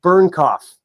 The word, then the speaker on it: Bernknopf: or is it Alaska, by David Bernknopf. Did I say it right again? You did.